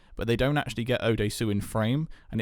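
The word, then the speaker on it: Oh Dae-su: Again, his name I cannot pronounce. Odesu? That's Odesu, yes.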